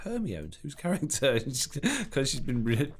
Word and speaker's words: Hermione: I'm not sure really if I like this Hermione character. I'm like, Hermione?